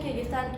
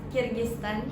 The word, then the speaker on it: Kyrgyzstan: And yeah, in conclusion, Kyrgyzstan is best for people who enjoy adventure, nature, and peaceful environment.